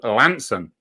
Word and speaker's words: Launceston: Launceston is actually pronounced Launceston, but also Lanson, you see.